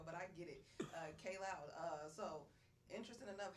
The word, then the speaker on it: Kaj Loud: mispronouncing my name, but it's actually pronounced K Loud. K Loud. Yeah. See, I was just reading it said See, KJ.